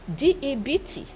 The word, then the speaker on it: debt: a bad debt yes debt when you hear educated people who say depths is the B is silent so when you listen